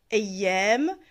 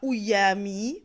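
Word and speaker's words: أيام: Vous devez savoir que ça se prononce ayyam et non pas ouyami, par exemple, pour pouvoir l'écrire et savoir le lire.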